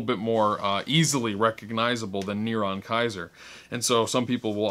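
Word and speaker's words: נרון קסר: comes to the name niron kaiser which is the hebrew pronunciation for nero caesar so niron kaiser 666 and in some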